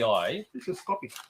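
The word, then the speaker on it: kopi: l lots of so how do you actually pronounce it so it's k o p i this is copy it's copy right copy okay and that's Malayan yes right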